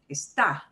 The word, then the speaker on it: Está: Está. Está. ¿Lleva acento o no? Sí, lleva acento. It does need an accent mark.